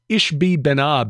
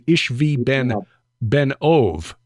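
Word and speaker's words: Ishbi-benob: by one of them whose name is Ish ishbi benab is how it looks but it's actually ishvi Ben ove which means ishvi son of the medium um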